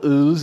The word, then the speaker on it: Öl: It's pronounced Öl. Yeah, like ale.